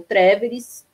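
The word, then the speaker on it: Tréveris: Bom, o Marx ele nasceu em 1818, numa cidadezinha alemã chamada Trier ou Treveris, dependendo da pronúncia, e de uma família de, digamos assim, de classe média, né, o que nós diríamos hoje.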